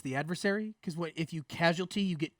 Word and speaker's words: casualty: Yeah, it is casualty. Okay, he's saying it wrong. Okay. No, causality is something very, Causality is very something very different.